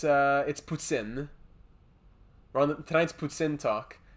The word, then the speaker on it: poutine: So it's the way it's spelt is Poutine, and it's not poutine, it's poutine. So that's our poutine talk for the night.